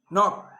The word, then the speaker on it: knock: A K is not pronounced when it comes before an N, like knife, no, knee, knock, not, knowledge.